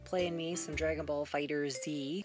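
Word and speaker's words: FighterZ: me some dragon ball fighter z that's the right way to say it game creators what's your problem you should you should say it like the show is dragon ball z you should call it dragon ball fight i have my own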